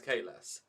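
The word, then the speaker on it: Kahless: what i mean like if the guy himself says his name is k less end of discussion two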